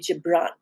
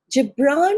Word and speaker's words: Gibran: Incidentally, it can either be said Gabbran or the American pronunciation is Gibran, but an Arabic research scholine told me that is in Arabic the G is a the G is not G but J. So I choose to stick to the Arabic.